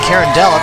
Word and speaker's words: Carondelet: Carondelet I pronounce it carindella because that's how it's spelled carondelette pronounce how it's spelled whatever open things up